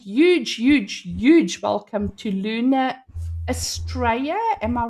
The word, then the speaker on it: Luna Astraea: Nice to see so many of you here again and huge huge huge welcome to Luna Australia. Am I right? Yes. Is it pronounced properly?